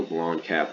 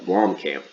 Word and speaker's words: Blomkamp: is in the works neil blond cap has uh blom camp excuse me make sure i say his name right um he is uh